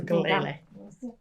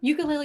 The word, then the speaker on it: ukulele: I learned this from a friend of mine who's Hawaiian, that ukulele is actually a Portuguese word, so you don't have to pronounce it like it's Polynesian.